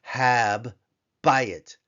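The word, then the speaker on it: הַבַּיִת: and the doges Forte we have a doubling of the bait of the hard sound of the bait Hab buy it Hab bu it Hab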